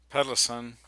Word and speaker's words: Pedersen: book uh and uh stefan uh peddleson which is actually how the swedish actually pronounce uh peterson or pederson i never knew that until today but in stefan's book